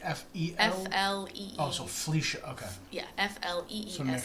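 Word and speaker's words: Fleesha: Oh, so Felicia. Okay. Yeah, F-L-E-E-S-H-A. So make sure I was pronouncing it right.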